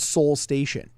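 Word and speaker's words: Seoul Station: i definitely dug uh i think it's called soul station uh pronounced at you know i mean it's like seoul korea so he did a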